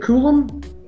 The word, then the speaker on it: coulomb: electrons make up one column. Is that how you pronounce that? Column? Is it Coulomb? Okay, so a Coulomb, you're gonna want to know that.